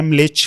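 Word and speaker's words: म्लेच्छ: जैसे जो earliest description है मलेच का, मलेच में बेसिकली जो करेक्ट प्रोनाउंसिएशन है ना वो म पूरा नहीं बोलते, आधा म बोलते हैं, मलेच, मलेच नहीं।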